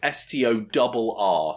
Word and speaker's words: Storr: But yeah, the guy is called Store. Not Store as in Superstore, but STORR. So it rhymes with Nor, as in the stock cubes.